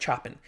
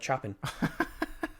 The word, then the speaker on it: Chopin: Chopin is, I think how you pronounce it. It looks like Chopin. If you say, "Oh, I love Chopin," it's Chopin, right?